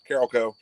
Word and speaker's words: Carolco: Carolco.